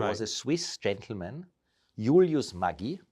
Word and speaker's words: Maggi: There was a Swiss gentleman, Julius Maggi, so that's how you pronounce it, the German part of Switzerland.